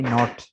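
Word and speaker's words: knot: इसके बाद है के एन ओ टी, नॉट।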